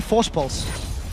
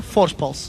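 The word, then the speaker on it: Voorspoels: For anyone that wants to know how to pronounce his surname, just say Force Pulse. Say it like you would say Kassadin with a bit of a lisp.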